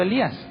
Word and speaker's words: Elí: dijeron escuchen está llamando Elías Pero de dónde sale la idea de que le está hablando Elías bueno porque en el original le dice el oí el oí y Elías se pronuncia Elí entonces parece que se